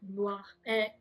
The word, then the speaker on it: Blois: I went also to the smaller cities of like Blois.